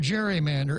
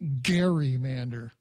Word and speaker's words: gerrymander: 2010 grotesquely gerrymander congressional districts now the word gerrymander actually should be pronounced gerrymander because it comes from the name of a